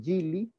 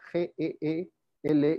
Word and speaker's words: Geely: analfabetos en las flores dueño de geely porque así se pronuncia g&l y tuvo que conocer